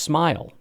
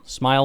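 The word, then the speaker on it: Smael: Smail Munden, I am pleased to inform you, Georgia linebacker, is actually pronounced Smile. Smile.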